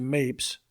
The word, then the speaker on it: Mapes: Creek I came to Mapes to rhyme with shapes but but founded a